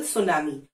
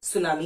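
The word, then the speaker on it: tsunami: लिए गए होते हैं फॉर एग्जांपल सुनामी आप कैसे लगते हैं टी एस यू एन ए एम आई सुनामी को ऐसे लिखते हैं लेकिन ट सुमानी तो नहीं लिखते क्यों क्योंकि ये एक जापानीज वर्ड है सुनामी इज अ Japanese word इसका ओरिजिन जापान में हुआ था और वहीं से ये वर्ड आया है तो किसी और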